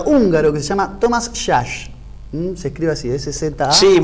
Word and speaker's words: Szasz: psiquiatra y psicoanalista húngaro que se llama Thomas Szasz. Se escribe así, S-Z-A. Sí, muy de los apellidos de Europa Oriental, sí. Thomas Szasz.